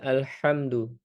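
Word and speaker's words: الْحَمْدُ: Maka di ayat kedua ini ee Allah memulai dengan alhamdu. Alhamdu menggunakan hak kecil ya, segala pujian. Adapun jika kita rubah menjadi alhamdu dengan hak besar, maka berubah maknanya menjadi menjadi diam atau menjadi sakit juga bisa atau menjadi ee kekurangan kelaparan ya. Maka buruk jadi artinya alhamdu dengan hak besar ee artinya bukan lagi segala pujian.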